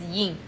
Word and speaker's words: Yen: Okay, I just realized that Yen's name, right, is pronounced as Yin.